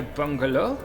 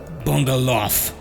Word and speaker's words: Bungaloff: Bungalow? Bungaloff. It's pronounced Bungaloff. Well, Dr. Bungalow, I think you'll find that I reach these figures with the utmost scientific rigor.